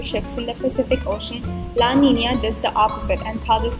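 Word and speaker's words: La Niña: what what is that they're pronounced as El Nino and La Nina this translates to the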